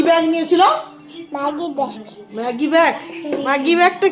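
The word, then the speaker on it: Maggi: তবু এখন তো অনেকটা ম্যাগিটা উচ্চারণটা হয়েছে, যে অন্তত ম্যাগি ব্যাগ বলছে। 2 দিন আগে তো মাগি ব্যাগ বলছিল।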